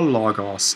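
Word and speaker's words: λόγος: for right now so hall logos is the word accent on the penult and then we can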